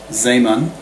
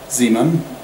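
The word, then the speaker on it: Zeeman: on a magnetic field the so-called uh zamon or if you pronounce it the way Americans do the Z Zan but Americans are not known for their linguistic skills America has been so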